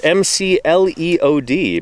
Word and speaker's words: McLeod: So the McLeod, M-C-L-E-O-D, McLeod, if you were to say it phonetically.